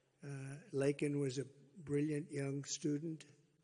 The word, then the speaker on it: Laken: lak Riley you know Laken very well now and after months of prodding him Biden couldn't pronounce her name he said he said Lincoln Lincoln Riley and Lincoln Riley is